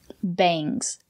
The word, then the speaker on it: bangs: at 10 good job bangs use the long a bangs she has bangs